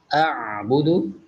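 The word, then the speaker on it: أعبد: Di sini juga masih sama, yaitu mad jaiz munfasil, dan kita masih ketemu dengan ain sukun, ditekan membacanya, dilunakkan, yaitu di tajwidnya yaitu a'budu, a'bud yaitu tawasut.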